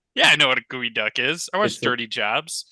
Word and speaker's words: geoduck: it's a a tortilla it's not a geode or a duck it's actually uh it's pronounced gooey duck oh that's a gooey duck okay I know what